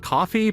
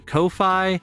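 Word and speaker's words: Ko-fi: I guess it's pronounced coffee but it could be Kofi I like calling it Kofi Kofi KO it's Kofi but it's supposed to kind of look like a coffee it's funny right Kofi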